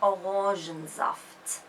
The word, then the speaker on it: Orangensaft: So note, it's almost a French pronunciation here, Orangensaft.